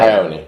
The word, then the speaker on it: Ioane: But actually, was it Ioane, how do you pronounce it? However you pronounce his Mark name. Ione.